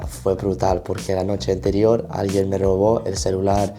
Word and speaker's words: anterior: And additionally, when he pronounced noche anterior, it sounded more like noche interior.